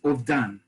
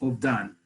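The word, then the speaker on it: אובדן: This verb, this word, loss, is ovdan. Okay, just like in Ashkenazi Hebrew, the a vowel that looks like a T can be translated sometimes as, can be pronounced rather as an O.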